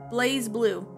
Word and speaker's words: BlazBlue: something called blaze blue now here's how you pronounce it it goes like this blaze blue for those of you who have never played